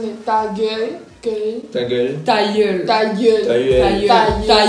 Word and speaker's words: ta gueule: Ta gueule. Ta gueule. Ta gueule. Ta gueule. Ta gueule. Es más grave como ta gueule. Ta gueule. Ta gueule. Ta gueule. Ta gueule. Hey, ta gueule. Ta gueule.